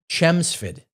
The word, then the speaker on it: Chelmsford: But if you talk to somebody from that area, they don't pronounce them in that way. They say Chemsford and Bara. The L's are gone.